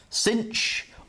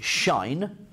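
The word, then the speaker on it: sinh: So I was always taught that this was shine, as in the sunshine.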